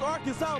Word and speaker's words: Arkansas: Ain't Arkan. It's Arkansas, baby.